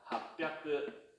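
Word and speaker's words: 八百: 그 다음에 따라와야 되니까 핫뼈크.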